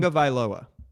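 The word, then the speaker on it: Tagovailoa: Well, how do you pronounce that name? Tunga Vailoa?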